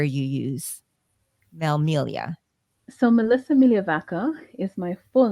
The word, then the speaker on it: Migliavacca: did that because a lot of persons struggle pronouncing my surname Mia vaka so Melia is easier and that's also my